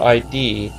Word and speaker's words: id: I think it's just called id. I learned it in Icelandic. I have no idea how it's pronounced in English or Deutsch. I don't think it's actually, like, saying ID makes it seem like it's an acronym or something.